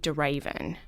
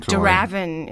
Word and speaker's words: de Ravin: I don't know Raven a lot of Americans say de Raven I would have said like daraven is what I grew up with Raven so it's not